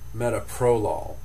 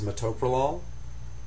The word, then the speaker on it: metoprolol: This one gets mispronounced all the time because it's actually four syllables. Mtopol, but you'll hear it pronounced with the accent in the wrong place. Pronounced metaprolol and that's not correct.